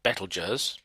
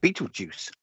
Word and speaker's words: Betelgeuse: course you you have near the center you have betelgeuse or bachelors as patrick would say um and just above the heckler just um is the moon yeah or beetlejuice if you want to pronounce it wrong nail go wash out go